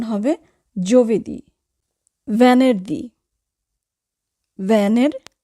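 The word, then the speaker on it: venerdì: বলি জুবেদি এটা ভুল উচ্চারণ যুবেদি হবে না উচ্চারণ হবে যুবেদি ভ্যানের দি ভ্যানের দি ভ্যানের দি শুক্রবার ফ্রাইডে এখানেও আমরা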